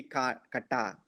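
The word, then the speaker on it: κατά: So why it is kata and not kata? Because the stress is on a. So if it were to be accent is here, it would be kata. Oh, Okay. so here, so it action rushes here. So it's kata.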